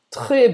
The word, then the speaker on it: très: o très não vai pronunciar esse S, tá? E o acento tá grave e a gente vai pronunciar, mesmo que seja esse acento grave ao contrário, a gente vai pronunciar Très. très ou très, tanto faz, tá? O E aberto ou o E fechado, tanto faz. Escolha como você quer pronunciar, depende da região.